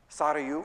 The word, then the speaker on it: Sarayu: Sarayu, which is how you say it, Sarayu. Sarayu is an actual Hindi word.